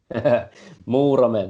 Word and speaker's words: Muurame: I mean, I'm not even going to try and pronounce it, but it begins with an M, right? Muurame, that's it.